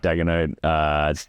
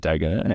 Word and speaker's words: Daigneault: And then we got Ime Udoka, Mark Daigneault, Taylor Jenkins, Jamal Mosley, and Tyronn Lue. Did you just pronounce it Daigneault?